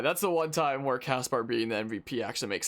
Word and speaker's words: Caspar: It's so weird saying Caspar instead of Casper. But apparently that's just how it's pronounced.